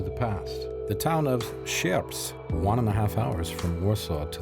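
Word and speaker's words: Sierpc: Sept. Sept.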